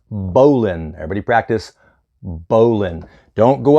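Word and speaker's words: bowline: at this knot this is called on paper it's spelled b-o-w-l-i-n-e it's not pronounced bow line it's pronounced Bolin everybody practice bowling don't go up to somebody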